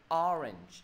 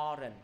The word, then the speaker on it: orange: Cho nên từ này thầy đọc cái gì? Orange. Đừng đọc là orange, phải ó thầy, nhấn thầy.